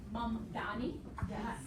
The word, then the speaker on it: Mamdani: It's Mamdani. It's as it's spelled.